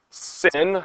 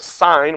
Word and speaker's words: sine: Somebody went sin, okay. Yeah, because that's how it's written. We'll actually pronounce it as sine with a long I.